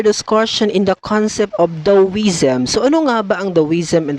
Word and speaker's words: Taoism: proceed with our discussion in the concept of dawizam so bang the wisdom in the first place